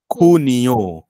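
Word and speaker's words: junio: गोष्ट अशी आहे बघा मगाशी हा जो शब्द होता इथे जी इ एन इ आर ए एल हे याचा स्पेलिंग होतं तिथेही खेनेराल वाचलं आणि आता जे यु एन आय ओ इथे पण मी खुनियो असंच वाचतोय मग उगाचच दोन दोन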